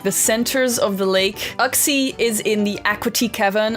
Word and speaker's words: Uxie: Uxie, maybe it's pronounced Uxie? That sounds kind of weird, but Uxie starts with a U, as in you, me, Mesprit, and us, Azelf.